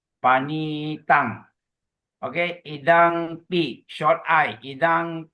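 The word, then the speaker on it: paṇītaṃ: You go to the two for fifth line fifth line last word a long eye there. So you pronounce panitang okey.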